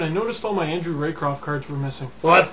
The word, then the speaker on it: Raycroft: Hey dude, I was looking through my binder and I noticed all my Andrew Raycroft cards were missing.